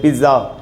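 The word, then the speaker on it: pizza: पिज़्ज़ा खाना, कुछ लोग बोलते हैं पिज़्ज़ा, कुछ लोग बोलते हैं पिज़्ज़ा। सबसे पहले तो इंग्लिश में इसका जो प्रोनाउंसिएशन, इसका जो इटालियन, ये इटालियन वर्ड है, इटालियन में इसका उच्चारण होगा पिज़्ज़ा।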